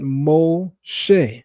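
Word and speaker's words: משה: It's pronounced O and the shin dot on the top right of the shin sh making it sh instead of s as well as a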